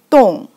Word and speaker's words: 动: So this character pronounced like 动.